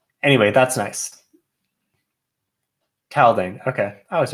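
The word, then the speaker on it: Taldain: Taldian? The White Sand planet. Anyway, I stumbled over the mispronunciation because there are some nice slight spelling changes that reflect the fact that everything in Roshar is spelled in a way where it's so symmetrical. And so that makes sense here where it's like Nalithis or Scadrial or something like that. Taldane makes sense to misspell it to make it a little more Rosharan.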